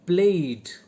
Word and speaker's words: played: D as in played, d, played, right?